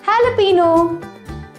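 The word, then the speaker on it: jalapeño: a maa PE e and o but the pronunciation is jalapeno kk4 TV k i w i Kimmy and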